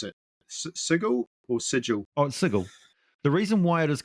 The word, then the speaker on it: Sigil: it's a city called now how do you pronounce it sigle or sigil oh sigle the reason why it is called sigle is is simply because of that whole um